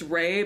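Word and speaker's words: Reigh: Her name is spelled, it's Ray, but it's R-E-I-G-H, like a white lady.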